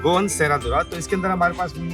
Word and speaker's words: Serradura: beautiful dessert, which you say is a Goan Serradura. Yes, that's Lovely. You said it right. Goan Serradura.